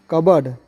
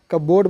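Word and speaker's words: cupboard: कबर्ड, कबोर्ड बोल देते हैं, कहीं समझ नहीं आता है, लेकिन कबर्ड है, और मतलब अलमारी।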